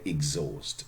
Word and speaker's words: exhaust: an age there yeah but H is silent okay exhaust is exhausting not exhausting